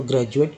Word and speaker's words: graduate: तो अगर ड लगाते हैं हम लोग तो ग्रेजुएट पढ़ते हैं, ड लगाते हैं तो ग्रेजुएट पढ़ते हैं, लेकिन जब ज लगा दिया, ज को उच्चारण कर रहा है, मतलब किया जा रहा है यहाँ पर डी का, तो ग्रेजुएट, क्योंकि सही उच्चारण है ग्रेजुएट, ग्रेजुएशन, यानी डी से ज भी उच्चारण होता है।